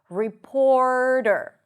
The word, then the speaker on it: reporter: Report. Then as you pronounce the R, you want to shoot your tongue forward for the flap T. Report. That's the flap T. And then back to the R. Reporter.